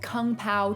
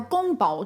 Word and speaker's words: 宫保: so we're starting off this list strong with kung pao chicken kang pao chicken or gong bao chi thing is a spicy stir-fried chinese dish